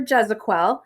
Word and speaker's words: Gezequel: what is your full name I'm uh jezequel is how you say my last name um